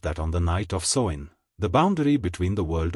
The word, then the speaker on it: Samhain: This festival was called Samhain, pronounced sow-in, and took place on